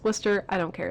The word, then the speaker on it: Wooster: cat is people from Wooster I'm gonna say Wooster they tell me it's Wooster I don't care it's Wooster this bridge collapsed